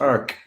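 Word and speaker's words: Arques: r q s so Ark AR and it's pronounced Ark in in in French in Fr so you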